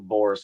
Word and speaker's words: Bor: I can't remember who Bor's father's name was. And you roll your R's whenever you pronounce their names. So it's like Bor, Tor, Oh, you know, interesting.